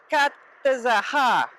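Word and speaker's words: Catazajá: Okay, so I got up extra early today, left the little town of Katazaha. The accent is on the last letter, and it's going to be really hot today, like 100 today and tomorrow.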